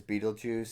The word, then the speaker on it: Beetlejuice: like the Orion constellation the reason it's pronounced and marketed as beetle juu is because I mean basically that one it's funny and two it's marketing like if the if